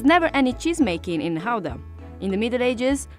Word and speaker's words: Gouda: depending on whether you're a native you would pronounce it either gouda or Gouda so since we're talking about authentic Dutch cheese we're going to call it houda the cheese takes its name from the city